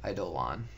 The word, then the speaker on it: Eidolon: is how you say it, by the way, Eidolon.